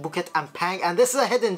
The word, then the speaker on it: Bukit Ampang: Yeah, that's a correct pronunciation, Bukit Ampang.